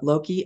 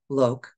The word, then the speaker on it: Loke: reading with Loki uh Loki I think I'm I know that I I'm pretty sure I'm not pronouncing that right it might be just Lok l o k Loke and but that he